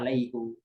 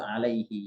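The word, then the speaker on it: عليهِ: Walaupun ada beberapa kiroat membacanya alaihu. Ya, tapi tetap yang lebih umumnya dibaca orang Arab itu alaihi, yadaihi gitu ya.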